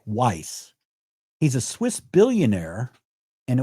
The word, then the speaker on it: Wyss: Media Justice receives some funding from Han- Hans-Georg Average pronounced Weiss.